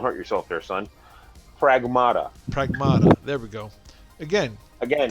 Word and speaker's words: Pragmata: Pragmata.